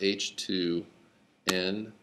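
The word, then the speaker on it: htons: and this thing is this is pronounced h2 n and the short version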